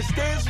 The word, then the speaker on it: Stiz: Stiz rhyme with jizz, bow rhymes with pow, ow.